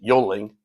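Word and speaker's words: Yuengling: Well, our original plan was to go to the Yingling factory out in Pottsville. If you're from Connecticut, you pronounce it Yoling.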